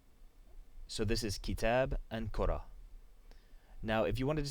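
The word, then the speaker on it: كرة: So when you say the word alone, it's just pronounced kura. But when you put a possessive pronoun at the end, it's pronounced like you pronounce the T.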